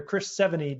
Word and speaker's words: Chris Sevigny: I got some coaching beforehand, so and I was told it's like the number and the letter 70, and I was okay, perfect.